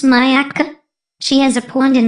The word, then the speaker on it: Myakka City: and paula lives in a little town called miako city pronounced mayaka she has a pond